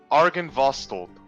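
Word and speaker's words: Argynvostholt: It is pronounced Argenvostold.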